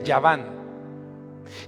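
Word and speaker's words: יוון: donde viene grecia bueno en hebreo se dice no se dice grecia se dice ya van quien fue el padre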